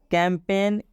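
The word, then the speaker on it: campaign: करना है इस्तीफा देना कैंपेन कैंपेन में भी एन का उच्चारण होगा लेकिन इस जी का उच्चारण नहीं करेंगे जैसे मैं फॉरेन फॉरेन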